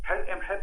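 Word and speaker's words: حور محب: حر ام حب ده اللي انتوا بتسموه حرم حب.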